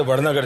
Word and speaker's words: वडनगर: तो उनको प्रोनाउंसिएशन मालूम था, बोले वडनगर जाना है।